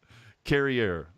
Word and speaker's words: Carrier: And it's Carrier. I'm doing the Canadian pronunciation. Carrier, like derriere, but with a C.